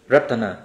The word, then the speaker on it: รัตนา: รับ รางวัล พารัด รัตนา รัตนะ ก็ คือ แก้ว เข ออก เสียง อย่าง นี้ เลย นะ รัตนา พาร บารัต รัตนา โพธิสัตว